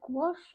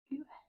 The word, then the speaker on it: gouache: You say gouache or gouache? Wait, gouache. I mean, if you were saying it phonetically, it'd be go ache.